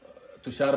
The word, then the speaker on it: तुषार: बट तो मैं तुषार नहीं, मैं तुषा बोलता हूँ, तो समझ में आ जाता है कि ये नाम है. इफ आई टेल तुषा, वो स्पेलिंग भी सही लग जाती है.